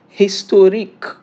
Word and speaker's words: historique: How is it pronounced in French? Historique in French.